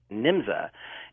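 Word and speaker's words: Nymza: an organization in Germany called nimsa n-y-m-z-a and and some spellings have it njmza but it was still pronounced nimza and it turns out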